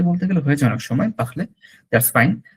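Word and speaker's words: parler: তাড়াতাড়ি বলতে গেলে হয়েছে অনেক সময় পাখলে, দ্যাটস ফাইন, বাট অ্যাকচুয়ালি হচ্ছে পাখ, গলার মধ্যে একটা ভাইব্রেশন আসবে পাখলে।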